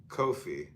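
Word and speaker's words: Qoph: comment and cop ko po p pronounced coffee kofi transcribed is Q the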